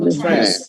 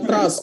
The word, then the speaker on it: trash: Trash atau trash. Garbage. Namanya trash ya, bukan trust. Kalau trust tuh takutnya nanti dikiranya percaya ya, bukan trust, tapi bacanya trash.